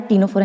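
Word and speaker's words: Ctenophora: इसके बाद देखो, थर्ड थर्ड है हमारा टीनोफोरा, यहाँ पे भी सी साइलेंट है।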